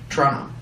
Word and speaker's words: Toronto: And that's how you know I'm from Toronto, because I say it Toronto. Toronto. It's Toronto. Americans say it Toronto. Toronto. But it's Toronto. We I- just do Trono.